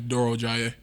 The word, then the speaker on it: Durojaiye: Either or you can say, and then my last name is Durojaiye. Durojaiye.